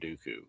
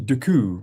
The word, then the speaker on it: Dooku: Why do we keep calling him Count Dooku? So Count D So it's actually Duku which Yoda Frank Oz speaks and pronounces properly.